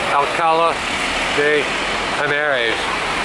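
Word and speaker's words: Alcalá de Henares: Alcala de Henares.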